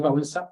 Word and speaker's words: Wałęsa: Porque aquí vemos a la superiora del convento con Lech Wałęsa, o Lech Walesa, según se pronuncia en español, en el Yad Vashem, pues cuando recibe pues, el título de Justa entre las Naciones, ¿no?